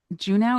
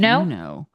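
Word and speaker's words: Juneau: Is it Juno? Is that how you pronounce it? Is that not how you pronounce it? I don't know. I think I always thought it was Uno. Uno. Uno. But obviously it's not.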